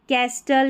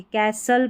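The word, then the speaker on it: castle: ये ऐसा पैटर्न रहेगा ना, तो इसको जो है कैस्टल या कास्टल नहीं पढ़ेंगे, कैसल पढ़ेंगे. विस्टल नहीं विसल पढ़ेंगे, लिस्टन नहीं लिसन, विस्टल नहीं, यहाँ पर इसको विसल करके पढ़ना है, ठीक है.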